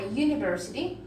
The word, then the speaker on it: university: Then we have a university. Nuevamente se aplica. Comienza con una U, pero se pronuncia como U.